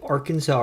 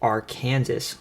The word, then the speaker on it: Arkansas: in the country interestingly it's pronounced the Arkansas River in every state it flows through except Kansas where they pronounce it R Kansas like the name of